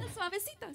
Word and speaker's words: suavecito: No, I said that wrong, didn't I? You said it right. Oh. El Suavecito. Suavecito. Very good. Perfect.